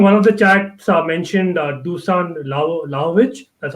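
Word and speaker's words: Dušan Vlahović: But I think one of the chats mentioned Dusan Lajovic. That's how you pronounce him.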